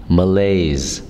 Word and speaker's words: malaise: the day is malaise malaise malaise malaise it's two syllables and the stress is on the second syllable so be strong on